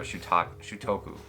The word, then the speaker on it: Shutoku: and the tape fingertips, it's like Shujuku or something like that. Let me see. I'm going to feel a fool if I don't actually say it right, but I won't ever say it right, so don't worry, guys. But yeah, you know, yeah, there you go, Shutoku. That was it, Shutoku.